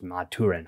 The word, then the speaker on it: Maturin: I did not know the turtle's name was Maturin. I believe I'm pronouncing that correct.